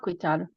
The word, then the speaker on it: guidad: Okay, Ishu Owa Guidado. Kusa. Ja. And yeah, that's another one. In the Pyramid Lake dialect, guidad is pronounced with a T. Guidad. Oha guidad.